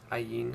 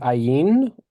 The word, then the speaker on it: Ayin: Ayin is silent.